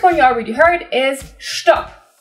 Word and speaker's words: Stopp: you already heard is stop same as stop but pronounced differently also spelled with two p's stop not a verb in